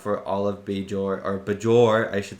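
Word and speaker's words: Bajor: all of beor or bour I should say not beor like in TNG bour like pronounce the J really hard for some reason in DS9 but you know everything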